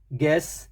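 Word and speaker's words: guess: गर्ड जी यू ई यू के बाद ई गेस गेस्ट जी यू ई यू के बाद ई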